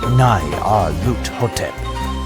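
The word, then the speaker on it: Nyarlathotep: The director of the museum pronounced it as Nai Ar Lut Hotep.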